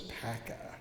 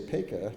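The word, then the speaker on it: Paca: The other big question is, why do you pronounce his name Peka? Everybody in Baltimore says Pekka. There's Pekka Street. Well, we in Annapolis say Peka, not Pekka, based on the strength of a rhyme that appears in the Harmony Club records.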